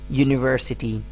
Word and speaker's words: university: University. University. Although this word starts from a vowel, but the initial sound is not a vowel sound, it's a consonant sound.